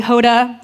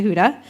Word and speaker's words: Huda: could pronounce it anyways people would call me Hoda Honda not sure how some of those names are similar to Huda but I was done